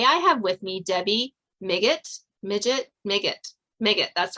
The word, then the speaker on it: Migit: set the record straight how you say your last name uh today it's make it dig it okay I will try